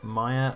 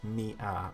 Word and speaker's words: Mia: Wait, is it pronounced Maya or Mia or both? I say Mia, like M-E-A-H.